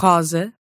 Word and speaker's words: rosa: But when you see a single S in between two vowels, it's going to sound like a Z, zzz. As in rosa.